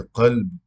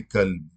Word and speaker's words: قلب: اردو دان طبقے میں بہت سے لوگ یہ لفظ بولتے ہیں قلب، لیکن اس کا تلفظ جو ہے وہ قاف کا تلفظ درست نہیں کرتے، تو قاف کی بجائے کاف بولتے ہیں، کہ قلب کی بجائے کہتے ہیں کہ کلب۔ تو کلب، کلب کے معنی ہو گئے کتا، اور قلب کے معنی دل، کہاں دل اور کہاں کتا۔ تو دیکھیں ناظرین، تلفظ